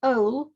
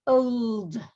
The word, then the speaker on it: old: Remember to pronounce the last letter. So don't say ol, say old.